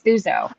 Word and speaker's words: Thuso: not her no not uzo suzo her name's suzo oh this is okay I'll look it up